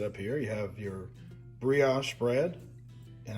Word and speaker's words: brioche: here, you have your brioche bread. And I had to look that up to see how to say it. I always say it wrong. It's brioche. Brioche.